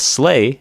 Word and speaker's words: sleigh: But sleigh, which is the same pronunciation, it actually means like a small little uh it's kind of like a sled.